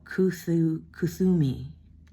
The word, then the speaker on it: Kuthumi: So this, how do you pronounce this one? It's Kuthumi, sometimes called Kut Ohumi, was a Sikh spiritual